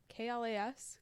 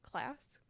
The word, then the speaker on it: KLAS: an investigative journalist for klas class okay i think it's just kl you say yeah you pronounce every letter so and and that's